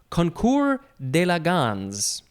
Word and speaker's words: concours d'élégance: It is concours d'élégance. Concours d'élégance. It is spelled, it's 2 words. First word, CONCOURS. You don't pronounce the S.